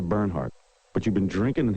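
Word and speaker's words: Bernhard: you don't even know how to say her name her name is Sandra burnhard but you've been drinking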